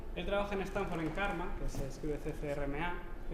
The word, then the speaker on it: CCRMA: Él trabaja en Stanford en CARMA, que se escribe CCRMA, que es el Center for Computer